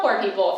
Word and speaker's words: Pour People: because Poor People, spell Poor People for anyone who hasn't actually seen it written out. Poor People is spelled P-O-U-R. Like poor, which is super clever.